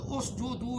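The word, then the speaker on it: اسجدوا: یہ اس جدو کیسے بنا، تلفظ صحیح میں بتا رہا ہوں، صحیح لفظ اس جدو ہے.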